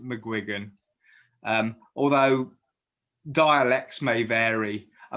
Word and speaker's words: McGuigan: his name for real right the the official pronunciation of my surname is mcguigan mcguigan uh there was actually there was actually